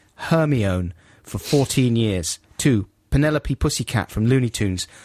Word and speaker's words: Penelope: for 14 years two penelope pussycat from looney tunes always pronounced as pentelope that's good yeah this is hard to spell phonetically so you just pronounce it the same as envelope do you think i